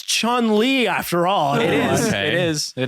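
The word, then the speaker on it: Chun-Li: name chung lee right say one more time chung lee spell it is it chun it is there's no g oh there's not that's pretty obscure matt no he's right it is okay it is chun li after all it is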